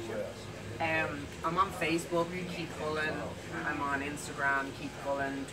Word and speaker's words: Cullen: We were doing this before we actually came on the set, and I was like, well, how do you pronounce Cullen. Your last name? Cullen. Cullen.